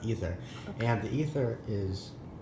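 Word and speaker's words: Aether: It's spelled A-E-T-H-E-R, but it's pronounced ether.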